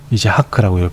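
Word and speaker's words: יצחק: 이제하크라고 발음이 됩니다.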